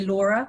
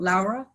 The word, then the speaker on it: Laura: So I say Laura, not Laura, and my surname is pronounced.